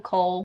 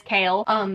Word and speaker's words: Chaol: I'm probably gonna call him Cole a couple times because I called him Cole for a really long time and then someone corrected me and it is Chaol, but I still say it wrong sometimes.